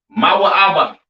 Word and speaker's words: Moab: have Moab all right Moab pronounced ma ABA right the children of